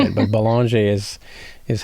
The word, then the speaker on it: Belanger: Well, it's Belanger is how the Americans say it, but Belanger is how we Canadians.